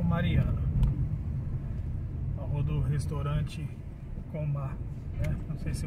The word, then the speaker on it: Komah: Deixa eu perguntar aqui a pronúncia certa aqui. Então, pessoal, aqui é o restaurante Coma, tá, coreano?